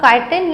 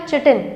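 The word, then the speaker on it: chitin: Wall होती है वो काइटिन या चिटिन, हम इसको अलग अलग तरीके से प्रोनाउंस करते हैं, आप इसको काइटिन या चिटिन जो आपको ठीक लगे वो प्रोनाउंस कर सकते हो।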